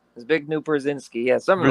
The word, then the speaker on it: Zbigniew: And very clever, devious fellow, I can't pronounce his first name correctly, Zygabru Yep, Brzezinski. Zbigniew Brzezinski, yeah, something like that.